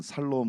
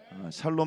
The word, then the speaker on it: 샬롬: 지금 좀 많이 좋아하셨네요 발음 새시는 분들은 살롬 그러신다 그랬죠데 제가 늘 말씀 죽을 놈보다 낫습니다 하나님 안에 있으면 우리는 사라지는 줄로 믿습니다 샬롬 말씀처럼 또 오늘 화목케